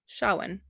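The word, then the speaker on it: Samhain: it I got it so how you would spell it it's s a m h a i n but the way that you like the way that you say it is s h a h yeah Shawan Darwin you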